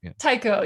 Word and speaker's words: taiko: the type is that how do you pronounce it taiko yep taiko drums they're they're the